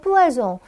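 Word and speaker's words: poisson: 이렇게 물어보시면 돼요 자 하나 발음 팁이 있는데요 어 한국인이 많이 발음하는 실수인데 푸아송 여러분 이것도 향수 이름으로 제가 봤던 기억이 나는데요 뿌아 송 뿌아 송가 하나니까 종으로 발음했다 두 개니까 송으로 발음했던 뿌아 송은도 포이즌이 뿌 아송이 생선이 그래서 교재에 쓴 것처럼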